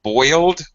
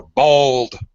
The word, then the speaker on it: boiled: You English speakers, native speakers say boiled or bold. I boiled some eggs. Some eggs. In not only some American, but also some British accents. It sounds more like bold.